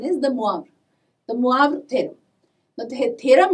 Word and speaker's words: De Moivre: nth roots of unity mind you please the pronunciation is the moab in many books or people they call it as dee moyer's theorem i mean if you go by spelling